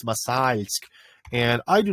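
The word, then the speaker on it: Мосальск: And the problem is it's the L with the soft sign after it, so it's not Masalsk, it's Masalsk.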